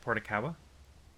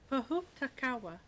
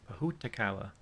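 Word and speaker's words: pōhutukawa: What is it, Portakawa? Pahutakawa. Pahutakawa. Right.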